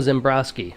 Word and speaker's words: Ziembroski: cycles with zembrosky am i pronouncing your name right you are you're nailing it okay great nice all